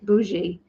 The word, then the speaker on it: bougie: where did we get to oh so it's pronounced B Bou bougie bougie it's a bougie that means fancy isn't